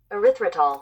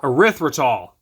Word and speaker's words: erythritol: Erythritol. Erythritol.